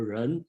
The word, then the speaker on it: 仁: Okay, in pronunciation in Japan they call Hito, and then we call Ren, and then some translation called Gen, Gen, that depend on the dialect you are using.